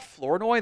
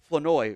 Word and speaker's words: Flournoy: Ryan, I also realized it's not Flournoy. The R is silent in his name. It's Ryan Flournoy or something like that, which I'm blown away by.